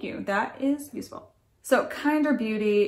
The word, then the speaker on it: KNDR: your kit thank you that is useful so kinder beauty it's spelled kndr kinda glow highlighting palette this palette